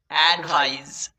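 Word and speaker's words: advise: Eddy at, ভিআইএসই ভাইস, ভাইস, অ্যাডভাইস। এখানে যে জয়ের উচ্চারণটা করছি মূলত এটা কিন্তু জয়ের সাউন্ড নয়। প্রথম ক্লাসে তোমাদেরকে শিখিয়েছিলাম যে কখনোই বর্গীয় জয়ের সাউন্ড উৎপন্ন করতে পারে না, সবসময়ই বর্গীয়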